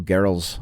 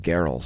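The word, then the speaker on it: Gehrels: head to the neil gerald's i i believe it's pronounced geralt's but anyway the neil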